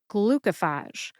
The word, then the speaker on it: glucophage: many brand name drugs glucophage has three syllables as well glucophage glue like glucose Co like the abbreviation for the word Company Co and FJ which rhymes with LA put that all together and you get glucophage note that when you say glucophage quickly the middle syllable Co sounds like C the O becomes a schw o sound like the